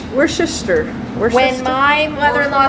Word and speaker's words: Worcestershire: Worcestershire. Worcester.